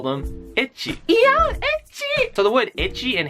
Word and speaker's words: ecchi: pronounce the letter H if you ask a Japanese person to pronounce the letter H they would say ity and the letter H